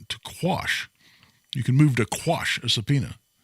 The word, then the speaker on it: quash: So I'll always laugh and say, we need to file a motion to squash the subpoena, which is not how we spell it when we file the motion. It's quash.